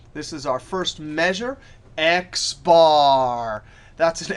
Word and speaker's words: X bar: When you see it written like this, math notation, you actually pronounce it X bar.